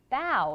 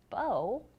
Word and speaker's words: bow: which is important that we pronounce that bow like bow like you can see the kitten here who is bowing to someone not bow like a bow that you would put